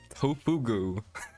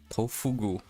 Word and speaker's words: Tofugu: My favorite website, Pofugu. Pretty sure that's not how you say it. To go. Tofugu. Anyways, uh for this I'm